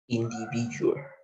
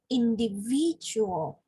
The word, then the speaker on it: individual: yeah okay all right so individual again individual yeah the third syllable the third stress individual okay or we can